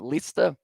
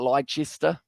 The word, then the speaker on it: Leicester: Leicester? It's not Leicester, it's Leicester.